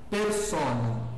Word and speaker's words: persona: Então, por exemplo, a palavra persona, que está aí separada silapicamente, ah, persona, né? Perceba que eu já estou, eu, eu uso a pronúncia eclesiástica.